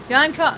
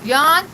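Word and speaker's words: Jean: His name is Yan. Sorry. Yan. Yan. It's spelled J E A N. But he's from the Netherlands, so you pronounce it Yan.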